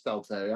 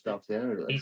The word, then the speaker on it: Stalteri: I corrected your pronunciation. It is Stalteri. I thought it was Stalteri.